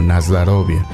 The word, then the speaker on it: Na zdorovie: nas dorie Sí pero en la pronunciación del idioma ruso muchas de las vocales o suenan como a Y bueno ya es parte de en este caso mi conocimiento el ruso que yo lo pronuncio como nasd rovia Pero como estamos viendo